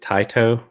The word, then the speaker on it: Taito: remember the uh developer how you say it taito like t-a-i-t-o remember yeah it's them it's a